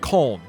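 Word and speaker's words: Köln: okay with germany why why does everybody say cologne but germans call it colon why is there that difference is it just that english speakers don't know how to say it properly i assume that's probably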